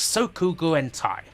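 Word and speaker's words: Sōkyūgurentai: western youtubers are guaranteed to screw up the pronunciation of it's sokugu and thai this is a fearsome bout of bullet hell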